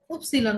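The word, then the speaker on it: Ypsilon: ওয়াই কে কি উপসিলন বলা হয়।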